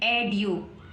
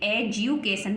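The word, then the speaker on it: education: तो बन गया एज्यू अगर हम इसको एड्यू कुछ लोग पढ़ते हैं एडयू लेकिन एडयू नहीं पढ़ेंगे एजुकेशन पढ़ेंगे क्या पढ़ेंगे एजुकेशन एजुकेशन है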